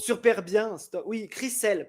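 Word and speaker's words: Chrishell: Crisel pas Christel. Ah Christel pas de T, c'est Cry.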